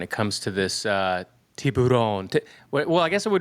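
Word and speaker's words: Tourbillon: So, Bugatti is sold out until 2029 when it comes to this uh Tibon. Well, I guess it would be pronounced Torbjon. Torbjon cuz it's a French word, but you know, I'm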